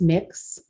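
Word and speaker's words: Mx: You can use a non-binary of miss, or Mrs., pronounced mix, and everybody can use it.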